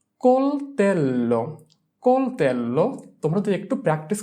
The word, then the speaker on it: coltello: coltello, coltello, coltello. C-O-L, col, T-E-L, tel, L-O, lo, coltello.